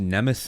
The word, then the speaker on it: Nemeth: Well, some pronounce it Nemeth, some pronounce it Nemeth. I'm just sort of pronouncing it how it's spelled, really. So either way, I guess. I'll say Nemeth.